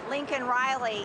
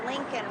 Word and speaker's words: Laken Riley: at him and I said, "Say her name, Laken Riley," he picked up the pen and he had it right there. It's easy to read, Laken, but he said Laken Riley.